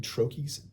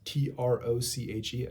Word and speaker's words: troche: So what I personally have begun doing for a number of people is using sublingual ketamine troches, TROCHE. It's actually pronounced troche and not troche.